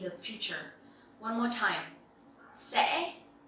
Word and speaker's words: sẽ: So here you will see that the tone is dấu ngã, and you will have to pronounce very clearly to make this sound correctly. If not, it will sound like dấu sắc.